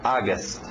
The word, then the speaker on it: August: não vai pela escrita você vai dizer au Não não é au é a u faz um som som de a August August engole o p